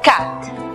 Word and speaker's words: cat: La palabra gato, por ejemplo, que se escribe cat, se pronuncia cat. Es decir, la A en esta palabra tiene su sonido cerrado.